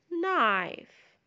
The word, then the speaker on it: knife: we have also K and بيتنطق يعني ال K silent like the word knee, knife, not, no.